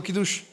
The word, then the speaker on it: Kiddush: Y sí lo pronuncié bien porque por eso lo estoy leyendo. Di conmigo, Kiddush.